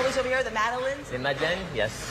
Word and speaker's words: madeleine: The madeleines?